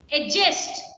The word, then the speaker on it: adjust: Adjust. It is not D is silent. D is silent.